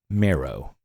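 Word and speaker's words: Merrow: The card name is Puresight Marrow. Puresight Marrow. Parasite? No. Yeah. Puresight. P-U-R-E-S-I-G-H-T. Oh, Puresight Marrow. Mm-hmm. And Marrow is spelled M-E-R-R-O-W. Oh, so it's not like marrow, like bone marrow.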